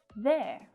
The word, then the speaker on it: they're: say so they are becomes they're pronounced in exactly the same way there they're hungry they're moving to sydney here